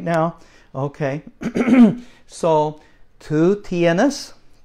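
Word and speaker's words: tú: right now okay so two tienes 2 means U kind of Rhymes two and U okay two tienas but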